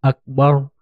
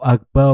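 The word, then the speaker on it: أكبر: allahu akbar allahu akbar kata Akbar yakni huruf ro yang berharakat dhomah berubah menjadi berharokat fathah sehingga pengucapannya menjadi allahu akbar allahu akbar allahu akbar meskipun hanya merubah satu harokat terakhir yakni huruf ro yang sebenarnya berharokat dhomah berubah menjadi fathah tetapi ini kesalahan yang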